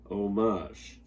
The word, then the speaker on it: homage: to look for it so that's that's an h even though it's silent homage some people say differently but the age is silent it's homage not homage and the meaning of